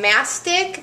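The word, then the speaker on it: mastic: starch now some people like to add um ntic that's spelled m a s t i c it's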